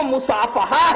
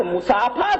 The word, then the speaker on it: مصافحہ: اور آخری دیکھیں، 2 ہاتھ مصافحہ سنت ہے۔ اب جن کو مصافحہ کا تلفظ نہ آتا ہو وہ بیچارے کیا جانے کہ ایک ہاتھ سے مصافحہ کرنا چاہیے کہ 2 ہاتھ سے؟ اصل میں وہ مصافحہ ہے، مصافحہ نہیں ہے۔ اگر یہاں مصافحہ پڑھا